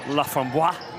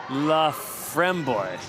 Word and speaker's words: Laframboise: It's not pronounced Laframboise. No, the syllable, the emphasis is on the middle syllable. Laframboise.